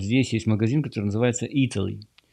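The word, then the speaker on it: Eataly: Кстати, если будете здесь в Flat Iron Building, то вот здесь есть магазин, который называется Italy. Italy пишется не так, как Италия, а пишется как E-A-T-L-Y.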